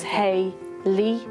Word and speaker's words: Hayley: so see if your your name your syllables would be a half and a less because it's hey lis so it's two claps and they're the two